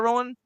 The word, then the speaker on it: Harad: Harad. You said it correctly. Harod. Okay. The They're They're called the Haradrim. So, they're Harad.